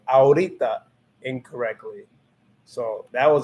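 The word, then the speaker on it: ahorita: to pronounce it because it's literally just saying ah and then aura because you know is is it silent so if you know that the h is silent you just cut that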